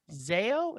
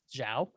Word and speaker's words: Zhao: modern-day nomad directed by chloe zeo is that the right pronouncing oh thank you yes that makes more sense now that i know that that's zhao uh and it was